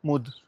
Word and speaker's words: Mud: मुद गांव का नाम है, बट इसकी प्रोनाउंसिएशन अलग अलग तरह से करते हैं लोग। जैसे कि गूगल पे MUD लिखा हुआ है, तो कुछ लोग मड भी बोलते हैं। और मड बोलना भी गलत नहीं है इस गांव को, मड